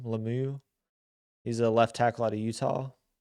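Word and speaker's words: Lomu: So my second potential first round pick for them, which makes a lot of sense, is Caleb Lemieux. I think is how you say his name, Lemieux.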